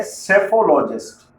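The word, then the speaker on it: psephologist: लेकिन ऐसा नहीं है सेफोलॉजिस्ट की स्पेलिंग पी से स्टार्ट होती है सेफोलॉजिस्ट के पहले आप देख रहे हैं स्पेलिंग में पी भी आ रहा है मतलब पी साइलेंट है अरे भाई बड़ा कंफ्यूजन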